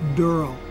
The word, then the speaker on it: Daryl: he plays durl and it's spelled D e r l e it's not darl it's durl please get that right load up the church